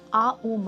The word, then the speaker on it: AUM: बोलते हैं कि हम आ उ म हैं, जो एक आ उ म, ये जो 3 सिलेबल्स आते हैं आ उ और म, ये आप एक म्यूट